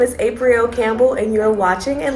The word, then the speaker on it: Apriel: but I go by Apriel nowadays. But Apriel, because the way your name is spelled, it sounds like Apriel, right? Yes. But they pronounce it April still.